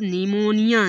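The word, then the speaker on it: pneumonia: पी मतलब निमोनिया। निमोनिया। देखो एन से पहले पी है इसलिए पी को साइलेंट कर दिया।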